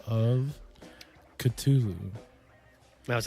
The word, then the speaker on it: Cthulhu: in there well when Lovecraft originally wrote the Call of Cthulhu or Cthulhu however you may pronounce it he wrote these to be not the human tongue isn't supposed to be able to pronounce these names so that's the closest that we can get to pronouncing these names because there's like four